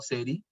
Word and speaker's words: seiri: Las 5S son seri, se pronuncia así, en japonés la I no se, hay una E y una I no se menciona seiri, sino seri.